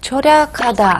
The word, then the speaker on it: 절약하다: 절의 그 음절에 있는 리을 받침을 이제 뒤로 자연스럽게 넘기는 거예요.